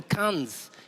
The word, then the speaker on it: Cannes: I saw this guy in Cannes.